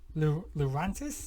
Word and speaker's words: Lurantis: We've got a Lurantis. That's how it's pronounced.